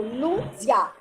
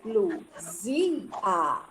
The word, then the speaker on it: Luzia: Ó, aqui eu já separo o A, porque eu não falo Luzia. E sim, Luzia.